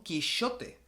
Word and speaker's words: Quixote: que no era Don Quijote era don quixote así era como se pronunciaba en castellano medieval como se escribe Jerez